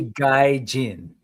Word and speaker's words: Guy-Gin: And you were gonna be Guy-Jin. Mm-hmm. Love that. I just wanted to make this a little more phonetically easier to pronounce until Lago on Chat